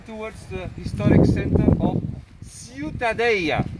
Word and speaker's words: Ciutadella: the historic center of ciutadella it is a bit difficult the pronunciation right you can also say ciudadella this would be in castilian spanish which is a kind of dialect of catalan to make it not